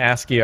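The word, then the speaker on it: ASCII: a little bit of asky art under the diamond hoe aski artart is that really how it's pronounced yeah what I had no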